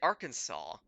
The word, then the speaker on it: Arkansas: hour, dower, the sucker for, gas, alas, and Arkansas. Arkansas? River Thames. What? River Thames. Oh, that's a shoe-in. That's a shoe-in for weird pronunciations. There is no way Arkansas rhymes with four. We pronounce it Arkansas, or if you're especially a hillbilly, Arkansas.